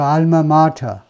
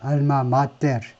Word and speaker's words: alma mater: 그러니까 라틴어라면 라틴어 읽는 방법은 아주 간단합니다. 우리가 알고 있는 그 알파벳 발음 끼워 말고 그냥 알파벳 그거 그대로 alma mater 이렇게 읽는 게 라틴어인데 이게 영어화돼 가지고 발음이 alma mater 뭐 이 정도로 읽는데 그러다 보니까 발음이 여러 가지 있긴 있어요. 그 중에 대부분은 alma mater라고 하는데 모교란 말이죠.